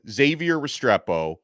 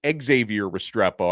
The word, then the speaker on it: Xavier Restrepo: this week to name Xavier Restrepo I always say his name wrong by the way it's Xavier Restrepo I need to learn